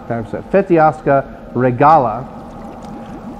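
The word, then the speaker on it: Fetească Regală: website and all that, the S has a little, squiggly underneath it. So I think that means you pronounce it like a shuh. I don't know. So we'll try that. The Recas. Feteasca Regala.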